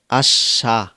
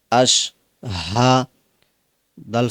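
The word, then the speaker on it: أَشْهَدُ: জবর হাশ হাহা অনেকে বলে আশা অর্থাৎ হা টা বাদ দিয়ে দেয় এটা করা যাবে না এটা করলে বড় একটা ভুল হবে আমরা জবর আশ হা বড় হা জবর হা আশ হাহা আশ হা দাল পেশ দু আশহাদু আমজার আম জবর আল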